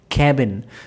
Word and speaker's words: cabin: So most of you guys actually pronounce this word as cabin, but let me tell you the pronunciation of that word will be cabin. Say with me, cabin. So A sound is there for that particular A.